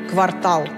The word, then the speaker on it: квартал: вот в значении городской квартал фер цель слова заимствовали уже непосредственно из немецкого в конце 18 века но для современного ударения эти тонкости не имеют значения правильно только квартал помните мультфильма пластилиновой